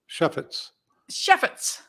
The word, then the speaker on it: Chefetz: is my guest today, Chefetz. Am I saying it right? Close. Chefetz. Chefetz. Yeah. Now, Chef with an S.